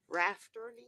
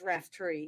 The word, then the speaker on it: Raftery: I've been pronouncing your name all this time wrong. Rafterly? It's Raftery.